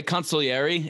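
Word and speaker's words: consiglieri: i'm curious as you're inviting your collaborators your consiglieres did i am i pronouncing consequences i've heard it pronounced that way consolieri is how they do it in the godfather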